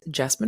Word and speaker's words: Jessamyn: sociologist my name is jasine and I tend to tell folks that at rhymes with specimen but with a J my love for people